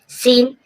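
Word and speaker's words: scene: ध्यान करें सीन सीन means दृश्य सीन सीन मीन दृश्य देख रहे हो यहां पर भी आप देखा आपने एस एस के बाद सी साइलेंट रहेगा सी का साउंड नहीं बोलेगा साइंस साइंस मींस विज्ञान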